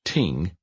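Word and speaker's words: 聽: gave tremendous insight into the concept the word pronounced Ting is made up of smaller symbols with specific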